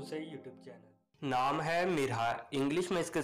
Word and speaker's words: Mirha: Welcome to Urdu سے YouTube channel. نام ہے مرحا، انگلش میں اس کا سپیلنگ ہے MIRHA۔ مرحا ایک اسلامی نام ہے